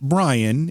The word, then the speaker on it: Brein: Even though it's pronounced Brian, it's spelled B-R-E-I-N.